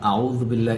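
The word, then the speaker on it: أعوذ بالله: এখানে আউযু বিল্লাহ এই শব্দটির মধ্যে একটি জাল এসেছে। এই জাল অক্ষরটি কিভাবে প্রোনাউন্সিয়েশন বা উচ্চারণ করতে হয় দেখুন। জু, প্রথমে জিব্বার আগা সামনের উপরের দুই দাঁতের আগার সাথে লাগাতে হবে।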